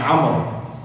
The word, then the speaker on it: Amr: Karena Amr itu sama aja dengan nama Umar. Ya, mirip, cuman ada wawunya di belakangnya, jadi dibacanya Amr.